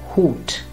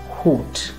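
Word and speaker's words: Hut: at a few examples this word in english would be pronounced as hat but in german it will be hoot which means a hat so once again hoot or this word in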